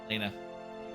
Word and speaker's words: Elena: Elena.